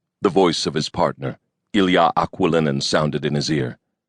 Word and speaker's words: Ilya: When friends called him Ilya, it was with the proper Russian pronunciation, with the accent on the ya.